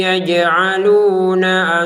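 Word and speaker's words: يجعلون: tahan jangan cepat-cepat gitu warquaj gitu baik wqu yaj'aluna asobiahum yaj'aluna asobiahum jimnya kita pantulkan lagi yaj'aluna yaj jaji ju baj jangan sekedar yaj Pantulannya mana? Enggak ada. Yajalu. Enggak ada. Itu pantulkan.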